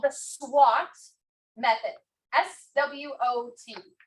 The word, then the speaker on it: SWOT: SWOT. Not like the SWAT that will come in the black suits and the vest and the thing, Dinos.